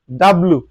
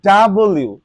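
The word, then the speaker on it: W: সচরাচর এটাকে বলে থাকি ডাব্লিউ ডাব্লিউ আসলে ফ্রেন্ডস এটা ডাব্লিউ নয় এটা দেখো এখানে এটাকে বলা হয় ডাবল ইউ ডাবল ইউ সো এটা ডাব্লিউ নয় এটার উচ্চারণ হচ্ছে কি ডাবল ইউ ওকে সো আমি মূলত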